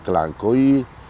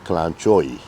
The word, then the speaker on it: Kalanchoe: You have to understand this fact that some people pronounce it Kalanchoe and some people pronounce it Kalanchoe. So both is correct.